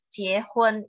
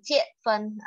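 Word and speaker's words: 结婚: Sama seperti jiehun, menikah, jiehun itu yang benar, bukan jiefun. Orang Medan suka bilang jiefun gitu ya.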